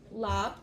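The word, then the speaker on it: larb: But that's um lap uh lap. It's spelled lar.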